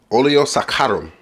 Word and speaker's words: Oleo Saccharum: thank me later and there you go man Olio sakarum and yes you have to say it like